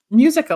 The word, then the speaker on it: Musica: today is Nick mukas how do you say it mizuka mus Musa like in music okay sorry people always